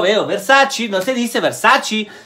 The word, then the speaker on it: Versace: la hay se llama de sachi y yo veo de sachino se dice versace se dice versace porque es una e no es verdad si